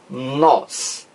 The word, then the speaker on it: nós: Veja lá, nos discursos de Dilma Rousseff, ela diz nós, nós. Não existe o i aqui.